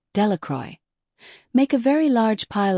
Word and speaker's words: Delacroix: Bobby and Harry Jones and Dickie Delacroix, the people in the town pronounce his name, Delacroix, make a very large